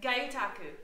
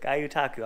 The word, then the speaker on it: gyotaku: GYOTAKU. GYOTAKU.